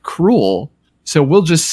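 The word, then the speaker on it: K. Rool: they will not get that k-rool's name is like cruel so we'll just say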